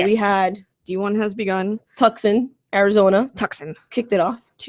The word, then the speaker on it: Tucson: Tucson, Arizona. Tucson. Kicked it off. Tucson. Tucson. Come on. There's a C in there. Silent. C is silent.